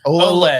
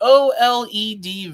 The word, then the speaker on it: OLED: OLED.